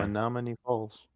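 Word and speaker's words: Menomonee Falls: Menominee Falls pronunciation. Oh yeah, Yeah. Menominee Falls.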